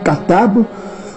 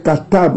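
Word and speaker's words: כתב: Au lieu de dire le katab, on dit kata. Kata. Au lieu de dire katab, on dit kata.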